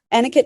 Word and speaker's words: Anuket: should mention anit well it's spelled a n u ke T anakot is the Egyptian goddess